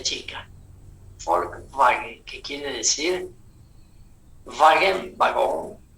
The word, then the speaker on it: Volkswagen: Y la B chica en alemán se pronuncia como si fuera F. Por eso, por eso se dice correctamente, ¿no? La Volkswagen, Volkswagen, la W como B chica. Volkswagen, que quiere decir Wagen, vagón, carro, auto.